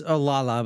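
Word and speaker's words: Olalla: Wait, is it actually pronounced Oolala or is it Olala? It's Oolala, but everyone Oh.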